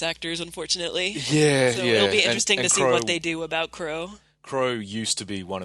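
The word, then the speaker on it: Qrow: and then you have Kuro which is its CRO but it's spelled with a Q at the start because anime yeah my vic Mignogna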